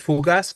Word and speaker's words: fugaz: con terminación en mente Entonces qué tipo de palabra es fugaz por su sílaba tónica es aguda terminada en Z no se acentúa fugaz y como fugaz